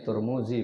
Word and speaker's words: Turmudzi: Imam turmudzi Imam Nasa'i ini bacanya turmudzi bukan karena Z Corbuzier ya dan sitesee dinner